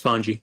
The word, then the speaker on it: Vani: believe pronounce it um unless it's pronounced differently Dom that you've seen it's voni yeah v v yep voni